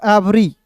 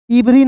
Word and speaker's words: every: चलिए उसके बाद देखिए यहाँ पे EVERY है तो इसे क्या पढ़ेंगे दोस्तों, एवरी। इवरी नहीं पढ़िएगा दोस्तों, इसे क्या पढ़ेंगे, एवरी।